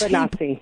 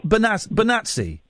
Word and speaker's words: Bonacci: that word advisedly, Paul Bonacci, it's pronounced different ways in the film. When does Bonazzi. Bonazzi. Yeah. Okay, thank you, because I knew I'd get it wrong.